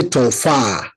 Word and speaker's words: tofa: And you call it tofa, you can say tofa to be properly correct in pronunciation. You say tofa, not tofa. Tofa or matofa. Tofa. If you say tofa, it will be totally different thing. So you have to stress the A and make it slowly.